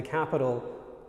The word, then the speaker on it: Capitol: York City or the capital of Canada is Ottawa not to Roman okay there's another word in English which is also pronounced Capital but it's spelled c-a-p-i-t-o-l and it means the